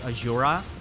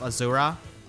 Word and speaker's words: Azura: They also changed the pronunciation of Azura's name in the Adrift banner. A lot of the characters from that banner refer to her as Azura instead of Azura. So the pronunciation has changed.